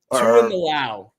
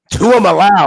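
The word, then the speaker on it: Tuimoloau: me out a little bit how do you pronounce my man on the edge JT Tu mly Luau two allow two allow oh man two of allow okay yeah I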